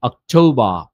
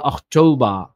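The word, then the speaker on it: October: কি বলতে হবে সেপ্টেম্বর এটাকে বলতে হবে কি অক্টবা অথবা অটবা এর মত উচ্চারণ নিয়ে আসতে পারবেন অসুবিধা নেই এটাকে বলতে হবে নভেম্বর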